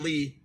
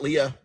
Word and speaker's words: Lea: It is L-E-A. L-E-A. Pronounced Lee. L-E-A, not Leah.